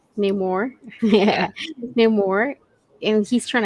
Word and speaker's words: Namor: neigh, like a horse, like neigh more. Namor.